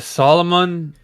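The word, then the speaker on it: Salomon: Well, how do you pronounce it? What kind of shoe is it? It's a Solomon.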